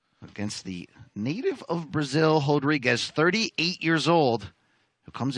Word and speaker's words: Rodrigues: By the way, he's Brazilian, so that first R is going to be pronounced like an H, we think.